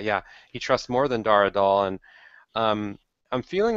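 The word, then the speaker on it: Dar Adal: Back to Dara Dahl.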